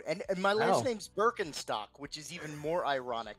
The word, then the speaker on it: Birkenstock: Are you are you are we are you heir to the Birkenstock fortune? Technically, according to German pronunciation, uh, the sandal shoe company is pronounced Bakentock because it's the IK.